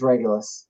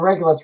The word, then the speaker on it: Regulus: Okay, it is Regulus. Because it doesn't. There's nothing that relates to a guardrail on this, so we're good to go. It rhymes with Regulus. RL and Regulus rhyme a little bit.